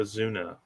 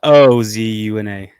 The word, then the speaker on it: Ozuna: Azuna. Oh, I forgot. Ooh, is that not how you spell it? It's Ozuna. Oh, that's right.